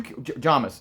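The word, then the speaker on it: Jamis: and everybody's talking about jamus you jamas sorry I've been mispronouncing it for 3 years so I'm trying to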